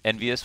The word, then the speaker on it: EnVyUs: Envyus always rhymes with marvelous, but will this round be marvelous for them?